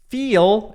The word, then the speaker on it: feel: Feel é o verbo sentir, né? Ter uma sensação. Fala feel. Então é um I longo.